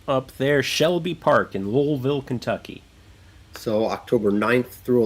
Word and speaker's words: Louisville: If you're going to compete, and the test is if you can pronounce Louisville correctly. Louisville. Yeah. You don't come in there saying Louisville or Louisville. It's Louisville. All right.